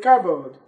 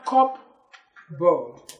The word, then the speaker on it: cupboard: in the word Chabad the right thing to say is just cardboard everybody say cupboard cupboard never cop bow so with this examples